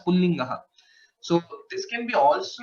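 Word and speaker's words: पुल्लिङ्गः: But while pronouncing, we pronounce it still as Pullingaha.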